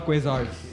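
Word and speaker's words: Quasars: हमारे बैंड का नाम पहले था क्वेज़ार्स। बड़ा कॉम्प्लिकेटेड सा नाम था, लोग जो इसको प्रोनाउंस नहीं कर पाते थे। लोग क्या कहते थे? कौसर।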